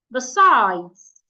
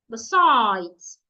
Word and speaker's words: besides: Another word, if you have a word that has 2 syllables and the word is a preposition, you should also stress the second syllable.